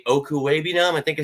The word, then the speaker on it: Okwuegbunam: Okwuegbunam.